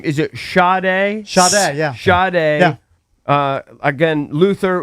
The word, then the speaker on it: Sade: It's I never actually know how to pronounce his name. Is it Sade? Sade, yeah.